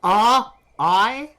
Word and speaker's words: Rian: It's R-I-A-N. Rain. So I'm calling him Rian. Yeah, Rian is how that sounds like it's supposed to be pronounced.